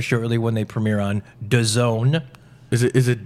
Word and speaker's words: DAZN: be rectified very shortly when they premiere on DAZN. Is it DAZN? It's DAZN. Oh, man, it's such a hard thing to pronounce.